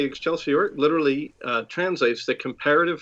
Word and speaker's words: excelsior: it it's a yeah it's more of a medieval latin pronunciation of excelsior you know you can say but it's really excelsior you know someone with